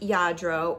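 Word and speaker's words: Lladró: This is a Yadro. I looked it up to figure out how to pronounce it for sure. It's spelled, I think, L-L-A-D-R-O, but it's pronounced Yadro. It's a Spanish company, and they make lots of like little figurines.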